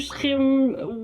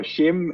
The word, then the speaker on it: SCHIM: So, we say which is the Dutch pronunciation, but we don't expect anyone in the world to try that for themselves. So, shim and skim that's the ones we hear a lot as well and those are also correct.